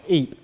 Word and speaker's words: Ypres: This word is pronounced Eep. The British say wipers. So a lot of our guys called it wipers because that's the way it was, that's just the way they heard it spoken by their British comrades when they were fighting up there.